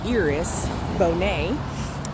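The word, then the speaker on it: Iris Bohnet: no two hours it's felt like ours it's pronounced eros Bonet she's from Switzerland and she's a Dean and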